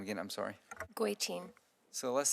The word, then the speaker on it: Goitein: Goitein.